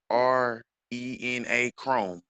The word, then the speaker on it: adrenochrome: Look up All right, adrenochrome. Look up adrenochrome. Look up adrenochrome. Spell that for me. a adrena. It's ADRENA Chrome. Like Chromebook, Google Chrome, but Hmm.